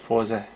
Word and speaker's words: Fourze: name of the character i have given him more of a westernized name before instead of his actual japanese katakana pronunciation of forza i apologize or a